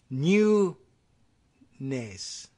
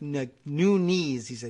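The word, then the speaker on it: Nunes: from chief beef loco on the Portuguese pronunciation I guess in in among real Portuguese speakers I guess they would say new NACE like new knees new knees and hmm so that's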